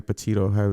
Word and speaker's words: Petito: i repeated that girl though yeah uh gabby petito that's how you say her name her last